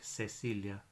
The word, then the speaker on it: Cecilia: like cara cara and seas are soft when they're before ii and i so we have a name like Cecilia and I've said the